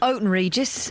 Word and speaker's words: Houghton Regis: If there's anybody listening in Houghton Regis, I've sent a message on Facebook. Or Oaton Regis, as the locals say.